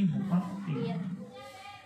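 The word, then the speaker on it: مفطِّر: Nah, jadi bacanya ini bukan muftir tapi mufattir.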